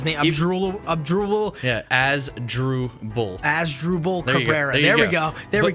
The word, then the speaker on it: Asdrubal: now is Asdrubal Cabrera even though he's he pronounces the unusual up drool yeah as drew bull Asdrubal they're very there we go there we